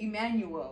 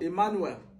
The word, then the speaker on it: Emmanuel: So how would you say Emmanuel? Emmanuel.